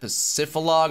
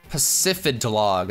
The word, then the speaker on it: Pacifidlog: sure I stop at Pacifilog, or however you pronounce it. I don't know. I usually never go to that town, so I can never remember how to say it. Pacifidlog. Okay, I was close.